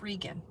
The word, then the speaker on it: Regan: to pronounce my name it's not Reagan it's Regan it's long e Reagan rhymes with vegan thank you open up